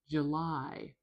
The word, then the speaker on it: July: I We've got a diphthong. A two vowel vowel. There's two parts. I I July. The weird thing is for North American English speakers, they if you ask them, they will say this is one sound. I I Their brains don't really think of it as two sounds but it is and it's really important to say them both.